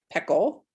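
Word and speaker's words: Pecl: see the the researcher greta peckle because that's how you say her name she's from australia and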